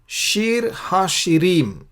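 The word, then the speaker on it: שיר השירים: श्रेष्ठ गीत को शीर हा शिरीम बोलते हैं। ये जो शीर शब्द है उर्दू में शेर बोलते हैं, शेर, शायरी, शेर, वो वाक्य, वो शब्द से उसका ताल्लुक है। शीर हा शिरीम उसका मतलब है कि गीतों का गीत, यानी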